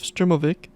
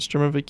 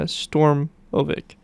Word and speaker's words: Sturmovik: meaning ground attack aircraft the word also appears in western sources as uh stormovic and sturm novak neither of which give correct pronunciation in english with 36 1883 units